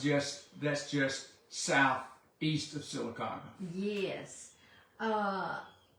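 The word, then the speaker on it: Sylacauga: that's just southeast of silaga yes uh silaga is a funny name if you're not from Alabama you probably wouldn't pronounce it that way if you saw it written out so that's right I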